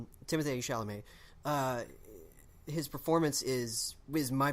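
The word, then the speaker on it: Timothée Chalamet: shall amaze performance is and that's how you say it by the way they rhyme Timothy sha'lame his performance is was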